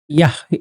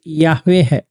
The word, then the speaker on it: Yahweh: Yeah, the Hebrew is Yahweh. Yahweh. And Jehovah is the English way of saying that.